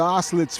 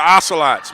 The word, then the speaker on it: Ocelots: score favor of the ocelotes from Schoolcraft College Jeff we got to say it right it's the ocelots man ocelots say it ocelots practice it practice it in the mirror go back go back